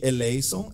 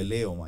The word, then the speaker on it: eleison: Se fosse falar com a pronúncia reconstituída ou erasmiana antiga, é eleison. É eleon, que seja já gastaram um tempinho no E. No segundo E. É um eta, é um epsilon e um eta. Sim. Eison. E não ei, porque no moderno o eta é ita.